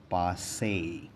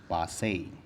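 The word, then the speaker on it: passé: याद रखिएगा इसका सही प्रोनाउंसिएशन है पासे, पासे।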